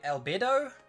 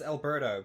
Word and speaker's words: Albedo: we've now got albe albedo i always pronounce it as alberto but there's no iron there so alberto the so